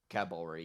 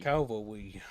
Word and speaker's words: cavalry: Cavalry. Calvary. He was saying he was saying calvary instead of cavalry.